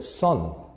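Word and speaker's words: 선: Дзен — это японское произношение слова чань или тхьяна. So, in Korean we call it son.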